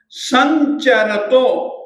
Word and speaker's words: संचरतो: संचरतो, संचरतो। अब ये देखिएगा, ये यहां पर सही शब्द तो समचरतो था, म को हम य कर देंगे एक व्याकरण के नियम से। अतः संचरतो, च छ ज झ य, संचरतो यथेष्टम, यथेष्टम, यथेष्टम।